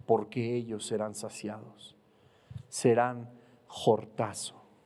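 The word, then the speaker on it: χορτάζω: La palabra saciados en esta bienaventuranza viene del griego jortazo, con J, acento en la A y Z. Jortazo.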